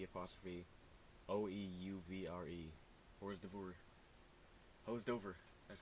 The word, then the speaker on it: hors d'oeuvre: Hors d'oeuvre.